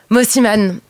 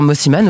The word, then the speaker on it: Mosimann: Mosiman. Est-ce que je prononce bien d'ailleurs Mosiman ou Mosiman ? Très très bien, et comme tu le sens.